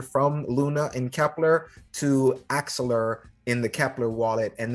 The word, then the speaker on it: Axelar: Sorry, I think I pronounced it. Axelar works. The way Axelar, that's what it is.